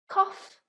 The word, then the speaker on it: cough: Number 2, O-U-G-H, like off. Cough, trough.